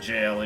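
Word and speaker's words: gaol: Yeah, I'm pretty sure that word is just pronounced jail, even though it's spelled gall. It's just, you know, an older way to spell jail.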